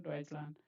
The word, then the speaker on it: Deutschland: Okay, Deutschland. Yeah, so if you break this, This is Land. This is Deutsch. This is Land. Okay, that's how it is pronounced.